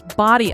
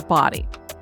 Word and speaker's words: Bodie: of the island and it is spelled b o d i e so at first you and I were thinking it was bod but it is said as body one is that a